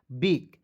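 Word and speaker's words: bake: लेकिन जब भी अंतिम में ई आएगा तो उसका उच्चारण एक एक के रूप में करेंगे, हो जाएगा बेक, बी ए के ई बेक, ठीक है जी।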